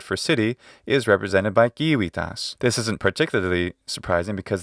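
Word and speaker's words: civitas: city is represented by kiwitas this isn't particularly surprising because the literal english word city is from of course kiwipas or jivitas if you want to use ecclesiastical pronunciation compare it of course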